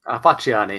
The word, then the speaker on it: Facciani: Is it pronounced Facciani? Facciani, yeah.